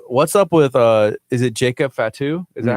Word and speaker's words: Jacob Fatu: Hey, what's up with is it Jacob Fatu?